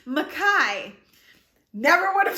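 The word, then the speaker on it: Mekhi: and i think we kept saying it as meki mec i i don't even in my head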